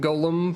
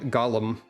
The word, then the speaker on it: Golem: go to a training Golem they very specifically pronounce it Gollum all the time yeah if you